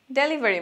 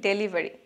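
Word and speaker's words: delivery: তারপর ডেলিভারি ম্যান, এটা আমরা সবাই জানি, কিন্তু এখানে উচ্চারণে একটু ভুল আছে, আমরা বলি ডেলিভারি, কিন্তু সঠিক উচ্চারণ ডিলিভারি, ডেলিভারি, ডেলিভারি ম্যান।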